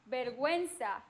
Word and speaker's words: vergüenza: But if it doesn't have a diéresis, it's silent. Silent. Guerrero. Queso. Guerrero. Guerra. Guitarra. Queso. Oh. Vergüenza. Vergüenza. Lingüística. Unless you see the diéresis, you don't pronounce that U.